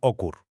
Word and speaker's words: OQR: más corto y simple, OQR, que seguramente se pronunciaba Ocur.